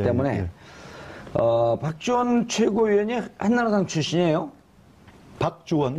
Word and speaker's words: 박주원: 박주원, 박주원. 그렇죠.